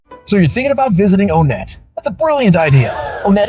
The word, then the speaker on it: Onett: thing we don't joke about is how to pronounce onet onet is the way to say the name of